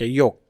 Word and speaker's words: yolk: कह जाय पित्तक बा योक YOLK माने ताकू प्रोनाउंस करा जिवो YOK योक एलटा साइलेंट रहइबो हैला तो पित्तक आ आल्बुमिन